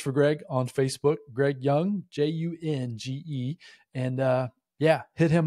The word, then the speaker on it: Junge: name for everybody, because it sounds one way, but then it isn't as far as the way it's spelled. Tell everybody how to spell your name as far as when they're searching for you on Facebook. Yep. It's J-U-N-G-E. So Junge is spelled J-U-N-G-E. So the first time I heard and met Greg, and I was calling him Jung, and he's like, no, that's not quite right.